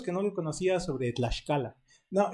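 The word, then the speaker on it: Tlaxcallan: Tlaxcalan, Sí, porque además no es Tlaxcayán, eso también está fuera de lugar, es Tlaxcalan.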